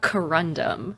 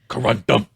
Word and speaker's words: corundum: Okay, so they're made of how what was it pronounced? Sorry. Uh, corandum. Corandom think corundum.